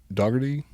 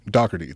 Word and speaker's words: Dougherty: a book by l.j doggerty dougherty dougherty that's how he said to pronounce it that's how he said